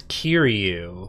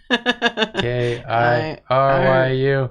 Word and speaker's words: Kiryu: It's Kiryu.